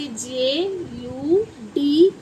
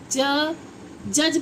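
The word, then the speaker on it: judge: और क्या देखते हैं, जैसे जे यू डी जी ई, क्या बना ये बन गया हमारा। अब इसे जज पढ़ते हैं, ज्यूड तो नहीं पढ़ेंगे ना डज पढ़ेंगे, क्या बोलेंगे इसको? जज।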